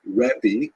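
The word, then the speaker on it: רבי: greatness um and uh in Israel the the term used in late Antiquity was rebi that's the actual pronunciation which means my greatness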